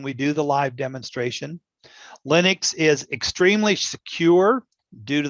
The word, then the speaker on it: Linux: what is linux and it's a short i it's not linux it comes from a person whose name was linus but this is linux so linux is actually